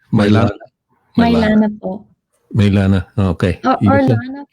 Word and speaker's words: Mylanah: pronounce? Mylanah. Mylanah po.